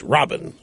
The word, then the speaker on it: Rabin: Yitzhak Rabin, pronounced Robin there.